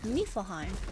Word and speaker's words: Niflheim: Also, I realized I pronounced it wrong. It's Niflheim, apparently.